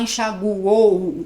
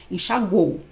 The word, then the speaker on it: enxaguou: Próximo, enxaguou. A gente não fala enxaguou, não, a gente não fala assim, parece que tá uivando. Não, é um golpe de ar só, enxaguou, tá?